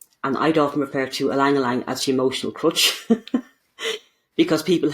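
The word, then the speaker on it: ylang-ylang: would be alangalang so alangalang it's pronounced e but it's spelled y so it's y l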